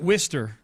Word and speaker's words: Worcester: Wester look like worest sauce wor sauce they pronounce it Worster yeah it's like they don't even oh they